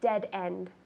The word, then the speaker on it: dead end: So you're walking down the street, you say, there's a dead end. Dead end, 2 Ds. Dead end. Tell me. Dead end. Good, so it's not soft, it's dead end.